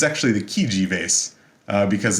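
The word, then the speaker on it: Chigi: out there takes italian or whatever but the pronunciation is kind of weird you'd think it's the cheeky vase but it's actually the kiji vase because it's italian and it belonged to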